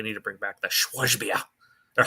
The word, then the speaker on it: Schwarzbier: Aber mein Deutsch ist dann sehr schlecht, aber das prononciert man wie Schwarzbier.